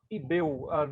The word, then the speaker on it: ICBEU: I'm from Manaus, Amazonas, and I work for ICBEU. This C is mute, right? We don't pronounce it here. We could say ICBEU, but people in Manaus are very, let's say, familiar with the name ICBEU, right?